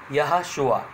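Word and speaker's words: יהושע: तो इसका प्रोनाउंसिएशन होता है, उच्चारण होता है यहोशुआ।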